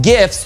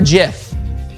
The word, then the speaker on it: GIF: them heaps of hilarious gifts throughout the chase nice job f chopper but do you pronounce it gif or jif i pronounce it either way so i'm neutral on that subject brother nature tweeted